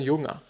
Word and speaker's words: Junger: From Sebastian Junger, or actually Sebastian Junger, if you pronounce it Germanishly, or something like that.